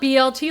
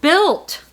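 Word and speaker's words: BYLT: I always call it BLT, like the sandwich, but it's not. It's B Y Lt. And you guys taught me it's pronounced Built.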